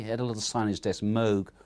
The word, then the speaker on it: Moog: of people think it's moog but he had a little signage that's moog rhymes with rogue he's a national engineer